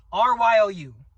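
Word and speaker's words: Ryuo: And Wano, armament Haki is called Ryo. R-Y-O-U. I pronounce it Ryo.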